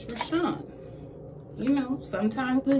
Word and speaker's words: Richon: my name is r-i-c-h-o-n rashaan richard that's why my name is spelled kind of weird and they you know